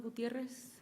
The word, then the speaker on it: Gutierrez: It's Gutierrez. Can you spell it out?